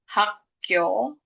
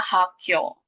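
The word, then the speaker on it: 학교: Hako itu nanti dibacanya hakyo.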